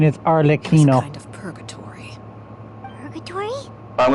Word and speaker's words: Arlecchino: pronunciation is It was a Arlecchino.